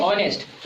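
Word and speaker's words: honest: जैसे देखो अभी हम आगे पढ़ाएंगे ओ के पहले अगर एच आएगा तो एच क्या होता है? साइलेंट होता है, उसको पढ़ा नहीं जाता। तो इसको पढ़ेंगे ऑनेस्ट।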